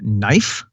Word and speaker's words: knife: reason that we have the word knife and berserk that silent k I believe is is Slavic or or or something along those lines yeah and as proof